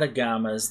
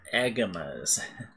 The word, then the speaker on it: Agama: They're not agamas, like I've been mispronouncing them. Oh, wait, they're right here. Not agamas, they're agamas.